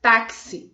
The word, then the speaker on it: táxi: letras e 4 fonemas mas lemos táxi é como se existisse um ser entre o ar eo x por isso 5 fonemas quatro letras e 5 fonemas é porque quando pronunciamos é como se existisse você antes do x certo e da palavra